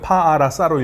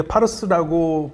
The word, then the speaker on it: 파르사: 파르사를 써놓고 보면은 글자로 읽으면 파아라사로 읽어야 돼요. 파아라사로 읽는데 그게 파르스라고 발음을 하거든요.